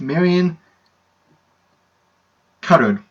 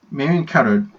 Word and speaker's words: Marion Cotillard: It's Marion Cotillard. Marion Cotillard, I believe is how you properly pronounce her name, because it's French and you do not pronounce the L's.